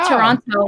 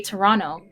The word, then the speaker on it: Toronto: Canadian or like more Toronto thing, but we don't really pronounce the T's in some words. Like we don't say Toronto, we say Toronto.